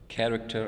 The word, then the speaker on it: character: The second pair is character and catch. Both CH letters are used for character, and they are also used for the sound ch sound.